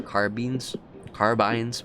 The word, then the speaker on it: carbine: The point of pistol caliber carbines, whatever you want to pronounce it, they're both right, by the way. Carbine and carbine are both correct.